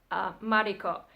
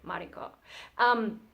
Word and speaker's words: Mariko: But so at home, I mean, the proper pronunciation of my name in Japanese would be Mariko, which feels so weird coming out of my mouth, and it feels so weird to hear it, Mariko.